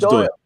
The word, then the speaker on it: Doyle: Did I pronounce that right? Davis and No, it's Doyle, Doyle.